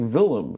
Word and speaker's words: Willem: It's like Willem. It's like Kaiser Wilhelm.